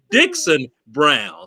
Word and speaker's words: Dickson-Brown: For those who are doing wrong, and I was doing wrong by pronouncing her name wrong. So she got on me. You hear me? So again, Dickson-Brown.